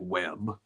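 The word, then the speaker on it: W.E.B.: They handled the Webb Du Bois team. I'm excited to see how they handle LCA. Someone said WEB, not Webb. Well, I'm going to pronounce it Webb.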